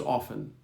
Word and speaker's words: often: The most common is often without the T.